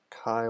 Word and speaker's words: Chi: of plus three decks Chi like rhyming with die or the Greek letter also so Chi Cabrillo dos